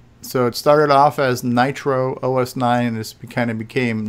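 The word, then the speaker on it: NitrOS-9: It was Nitro OS or Nitro S9 at first, and then we started running it together because it was faster to say Nitros 9. So it kind of unofficially became that, but originally it was the longer version.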